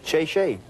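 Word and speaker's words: 谢谢: Oh, thank you in Chinese is shay shay.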